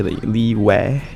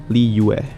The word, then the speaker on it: Liyue: is easy right yeah usually we we just say leeway with a w so i'm guessing the correct one is why lee ue same as l-e-e like a common english sure name here um but the uh part i think people struggle with yeah let's break that down it's u-s just say that fast and then eventually it'll string together into one one syllable instead of two the important thing to